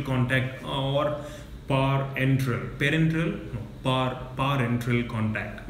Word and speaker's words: parenteral: No, parenteral contact. We used to previously pronounce it as parental and parental, but our pharmacology lecturer clearly told us, because we never understood the meaning of parenteral, for example.